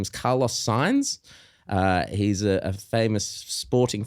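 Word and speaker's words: Sainz: Carlos signs but they instead of s a i NZ it's spelled Carlos signs SI i g NS cuz he signed a contract but his last name's signs but then if you write it differently it's sounds the same but it means different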